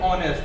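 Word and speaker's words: honest: ही इज ऑनेस्ट। तो दोस्तों, जैसा कि हमने स्कूल में पढ़ा है कि ऑनेस्ट जो होता है वो किससे शुरू होता है, उसका जो उच्चारण होता है उस स्वर से होता है।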